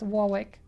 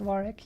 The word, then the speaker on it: Warwick: all that time I like I thought it's pronounced Warwick but no I don't know I think it was only this year or the last year that someone told me uh it's actually pronounced Warwick you don't pronounce the second doubt you know